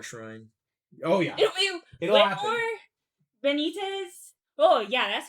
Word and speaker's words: Benitez: Benitez.